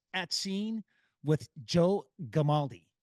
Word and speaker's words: Gamaldi: Code 6 at scene with Joe Gamaldi. Did I say it right? You got it right, hard G.